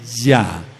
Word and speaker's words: Yah: Hei, no se pronuncia y, se pronuncia ya.